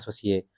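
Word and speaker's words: associé: Kalau benar-benar mau ngomong ejaannya sebenarnya E-nya nggak dibaca, jadi asosi gitu. Oh. Cuma kita mungkin mau bikin sesuatu yang beda gitu. Dengan lidah Indonesia kita ngomongnya asosie.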